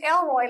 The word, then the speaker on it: Elroy: pronounce this and then what i figured out is just elroy like the jetsons is anybody old enough